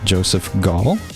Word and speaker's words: Joseph Gaul: Today I am here with, and hopefully I pronounce it correctly, Joseph Gaul.